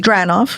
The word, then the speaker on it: Dranoff: Dranoff. Dranoff. Dranoff 2 Piano Fusion. What is it? How is it? How long you've been there? Tell me about it. So, interesting about the Dranoff we were talking about Connecticut that um the